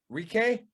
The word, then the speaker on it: Ricci: Versus she's 12-4 coming at Tabitha Ricci. All right. Ricci. So I said it right the first time.